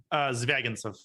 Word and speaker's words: Zvagintsev: How do I pronounce his name? Zvagintsev. Easy for you to say. It's not the easiest name.